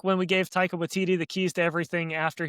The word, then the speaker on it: Waititi: I'm kind of stuck on you saying Watiki, or say his name Taika for Waititi?